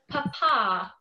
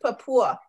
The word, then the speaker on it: Papua: tell them get out papa i'm probably not saying it right it's pronounced papua yeah i but i've been to the northern part in new guinea but um it sounds just like it's spelled it's kind of weird